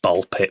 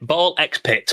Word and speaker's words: BALL x PIT: Yeah, but it's just pronounced ball pit. Ball X pit but ball pit.